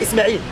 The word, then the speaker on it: Ismail: But in Arabic we say Ismail. Ismail. Ismail, yeah. There's no H.